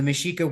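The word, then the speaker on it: Mexica: Aztec people so the mishika were the Aztec and if you look at the way mishika is spelled like meex IA so that's how we get the term Mexico but when it was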